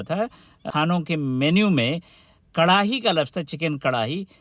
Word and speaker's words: کڑاہی: دیا تھا انہوں نے۔ وہ تلفظ میں ہے آتا نہیں ہے اکثر و بیشتر، خاص طور پہ جب بیچ میں ہو، انہوں نے وہ تلفظ